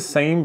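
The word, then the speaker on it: ס: it looks almost the same but not exactly it's just a circle okay so the circle is it's pronounced like s okay for example in the word so it's just a simple s okay so this is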